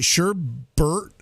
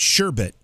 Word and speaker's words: sherbet: what do you got do you pronounce it like there's an r and then the second part of that word because there's no r we know that it's sherbet b-e-t but a lot of people say sherbert what do you